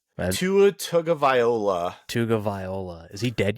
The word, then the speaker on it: Tagovailoa: Tugalivova? Tua Tagovailoa.